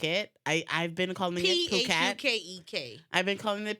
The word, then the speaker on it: Phuket: Although the party is called like Fuck It, I've been calling it Phuket.